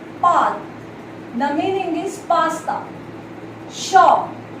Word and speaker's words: chat: Shaw. Here T won't be pronounced because the consonant comes in and can never be pronounced. So we pronounce it like shaw.